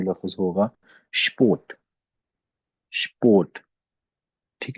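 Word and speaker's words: Sport: अब हम इस लफ्ज को प्रोनाउंस करेंगे तो ये लफ्ज होगा स्पोर्ट, स्पोर्ट, ठीक है।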